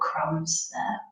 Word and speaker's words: crumbs: size of those individual crumbs and you notice that the be very silent so whenever you see a word ending and the the B is always silent so another example would